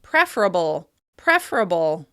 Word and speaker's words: preferable: Another -ble word that loses that schwa sound is the word "preferable," which is often pronounced "prefrable, prefrable." Another reason we may delete